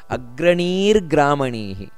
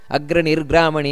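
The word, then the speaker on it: ಅಗ್ರಣೀರ್ಗ್ರಾಮಣೀಃ: ಗಮನಿಸಬೇಕಾದ ಅಂಶಗಳು ಏನು ಅಂದ್ರೆ ಅಗ್ರಣಿ ಗ್ರಾಮಣಿಹಿ ಅಗ್ರನಿರ್ಗ್ರಾಮಣಿ ಈ ರೀತಿಯಲ್ಲ ಅಗ್ರಣಿ ದೀರ್ಘ ಇದೆ ಅಲ್ಲಿ ಅಗ್ರಣಿಗ್ರಾಮಣಿ ನೋಡಿ ಅಲ್ಲಿಯೂ ಕೂಡ ದೀರ್ಘ ಇದೆ ಅಗ್ರಣಿಗ್ರಾಮಣಿ ಈ ರೀತಿ ಅಲ್ಲಿ ಎರಡು ಸೊನ್ನೆ ಇದೆ ಗ್ರಾಮಣಿ ಶ್ರೀಮಾನ್ ನ್ಯಾಯೋ ನೇತಾ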